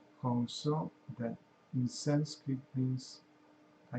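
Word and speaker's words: Hong Sau: When we inhale, we mentally pronounce Hong, H-O-N-G, and when we exhale, we mentally pronounce So, S-A-U, Hong So, that in Sanskrit means I am Him, I am God.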